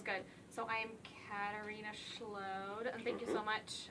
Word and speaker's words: Schload: other stuff okay sounds good so i'm katerina schlow and thank you so much um for pronouncing my name right because everybody messes it